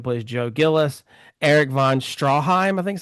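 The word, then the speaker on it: Stroheim: William Holden who plays Joe Gillis, Eric von Strawheim, I think is how you say it. Straw, right?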